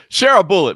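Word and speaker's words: Sharabutdin: was by Maga M pronounce it share a bullet make it easy on you share a bullet but Shar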